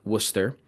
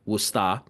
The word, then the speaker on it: Worcester: And yes, if you're not from the area, that is pronounced Worcester, or as locals would call it, Worcester, not Worcester or some other derivative of that.